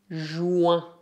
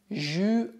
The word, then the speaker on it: juin: Normalmente, em francês, a letra U é pronunciada U. U, o que deveria dar juin, juin. Mas no dia a dia tendemos a pronunciar esse U à maneira portuguesa, o que dá juin, juin, juin. Não há nenhuma razão específica, exceto que é muito mais fácil de se pronunciar.